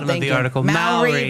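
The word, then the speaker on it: Māori: Maori rhymes with dowry.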